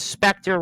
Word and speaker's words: Spectre: And Tam here says Spectre rhymes with Vector.